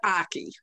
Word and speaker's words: Aki: mute there we go oh it rhymes with hockey hockey very good representative drop the h but it's aki aki very good well